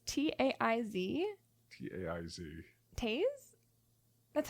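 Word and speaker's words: Taiz: Taze? That's how you would You're pronounce it.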